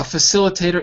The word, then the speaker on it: facilitator: And notice that even though it's written with an I, it's not pronounced like an I.